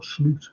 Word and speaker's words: Slot: guys you you're right this pronounced slute of course it said i ph him up and I said hello Mr the slot he said it's slute prank I said oh okay